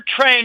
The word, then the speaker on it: tren: Their word for train is T-R-E-N. It's pronounced the same way, train.